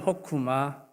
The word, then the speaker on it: 호크마: 실제로는 호크마 흐예요. 마지막에 히브리어는 오른쪽에서 왼쪽으로 읽습니다. 마지막에 흐는 사실 발음은 하지 않. 그래서 그냥 호크마로 이렇게 읽는 건데 흐 발음이 있는 거예요.